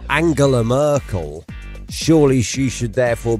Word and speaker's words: Angela: getting wrong here because if she is angela merkel and not angela which basically is how it's spelled let's be honest here